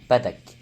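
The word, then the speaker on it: Bardock: Et oui, ça se prononce pas Bardoc mais Badaak.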